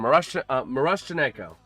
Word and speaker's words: Miroshnichenko: Miroshnichenko. There it is. Miroshnichenko. That's the pronunciation. Miroshnichenko.